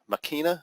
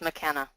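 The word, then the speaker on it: Makena: to pronounce that name, Makina Beach and Golf Resort in Maui. And time is running out. What's that? It's McKenna. McKenna. Okay, very good. Like Paul McKenna, the hypnotist. Awesome. Okay, so the McKenna Beach and Golf Resort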